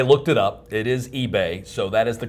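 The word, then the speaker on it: Ibe: It is pronounced eBay, even though it's spelled I-B-E. I looked it up. It is eBay, so that is the correct pronunciation.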